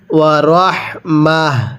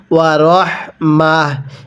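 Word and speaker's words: ورحمة: ওয়া রহমাহ, এখানে কিন্তু তা দুই পেশ তুন আছে। অনেকে হয়তো বলতে পারেন হুজুর এখানে তো রহমাতুন আছে, তো আপনি রহমা পড়লেন কেন? দেখুন ওয়াকফের সময় যদি এরকম গোলতা থাকে তাহলে সেই তাগুলোকে আমাদের হা বানিয়ে পড়তে হবে।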